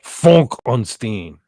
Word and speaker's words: Frankenstein: It's pronounced funk onstein.